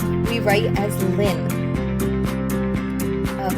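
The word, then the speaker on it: ln: of x if you see lin okay we pronounce it as lin but we don't um say we pronounce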